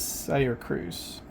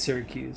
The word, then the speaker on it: Syracuse: College as well as Sayer Cruz I don't know if I'm pronouncing that right it's Syracuse Syracuse okay she has studied